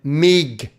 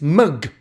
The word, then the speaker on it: MGTOW: The letters M and G together, phonetically, do not make the sound MIG. It's MUG, or MUG if you like.